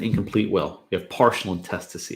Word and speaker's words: intestacy: Intestacy. No. Intestacy. Just say it like I did because you're gonna screw it up if you don't.